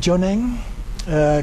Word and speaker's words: Jonang: Jonang, kind of the way it sounds, J-O-N-A-N-G.